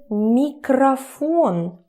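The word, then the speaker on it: микрофон: Because we already know, when stressing goes here, this one turns to a.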